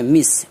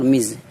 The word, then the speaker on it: Ms: یا عرف سے پہلے مس MISS کا استعمال کیا جاتا ہے۔ مس MS، اسے مس بھی پڑھتے ہیں اور مز، یہ وہ لفظ ہے